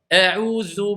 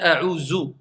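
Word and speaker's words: أعوذ: Combien disent a'udhu billah? A'udhu billah. C'est quoi a'udhu billah? C'est un del? Est-ce que c'est demandé de prononcer a'udhu ou a'udhu? C'est un zel, c'est pas un del.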